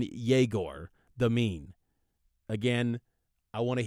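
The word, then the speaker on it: Egor Demin: can do with him jagor deine now that's that's the latest pronunciation I've been told officially by BYU on jagor the mean again again I want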